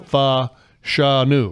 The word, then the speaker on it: Fashanu: So he in theory could get there this week with a massive game against Olu Fashanu, the left tackle.